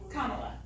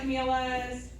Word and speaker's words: Kamala: So a good way to remember it is comma, like the punctuation, C-O-M-M-A, la, Kamala. We get a lot of Camilas, but Kamala is the current U.S.